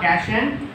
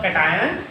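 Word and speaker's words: cation: देखो ये आयंस हैं, आगे वाला कैशन मतलब कैटायन, पीछे वाला एनियन या एनायन, मतलब डिपेंडिंग अपॉन योर प्रोनाउंसिएशन आप कैसे उसको प्रोनाउंसिएट करते हो, ठीक है।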